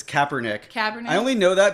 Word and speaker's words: Kaepernick: At, How do you at pronounce first, it? I thought you said Copernicus. Kaepernick? It's Kaepernick.